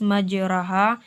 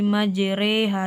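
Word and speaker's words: مجراها: ayat 21 yaitu pada lafazh majreha di sini tertulis majroha kita memiringkan bacanya menjadi majreha di sini ada Kak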